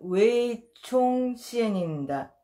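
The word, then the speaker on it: 魏忠賢: 아무튼 중국어 발음은 웨이총시엔입니다.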